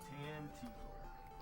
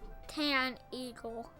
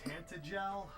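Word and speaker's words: Tantegel: Tanteagle. It sounds like Tan Eagle. Some people say Tantagel, but I just don't think that's the way you pronounce the name of the castle.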